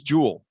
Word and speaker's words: joule: let's talk about this jewel and it's pronounced just like um jewelry right right um so